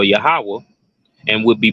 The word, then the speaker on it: Yahweh: Ha, Wah, Ha, which is pronounced as Yahweh.